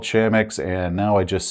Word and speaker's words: Chamax: up because I like to call it Char Max for some reason even though there's no R but I started calling it charmax before I realized it was called shamix and now I just